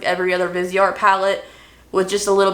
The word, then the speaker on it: Viseart: Next up is from Viseart. I always want to say Viseart when I see that because that's how it's spelled out, but I know it's Viseart.